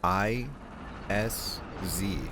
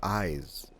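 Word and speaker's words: Isz: I SZ. And I've always called it the is chalice, but someone told me, "No, it's the eyes chalice because you know it's bloodborne and you need eyeballs."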